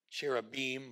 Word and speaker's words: cherubim: And on either side of the mercy seat, there are cherubim probably is the better way to pronounce it in the Hebrew.